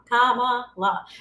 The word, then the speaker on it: Kamala: It's like a comma, and then la, like la, la, la.